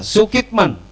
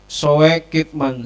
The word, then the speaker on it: Soekitman: berkaitan dengan tema kita sukitman tulisannya sesuai kitman karena dulu ejaannya adalah ulama itu adalah u itu menggunakan oe soekitman Soeharto menjadi Soeharto Soekarno